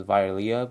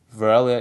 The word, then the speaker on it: Virelia: you pronounce her name like I did pronounce her initially as viia but velia is actually the is the actual pronunciation so we're going to